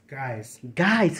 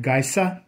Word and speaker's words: Geise: Guys, how come it's hard to say your name? Well, because the Germans pronounce it Geise. Oh, but my great grandfather softened it to guys, like G-U-Y-S, guys, so that it would be easy to pronounce.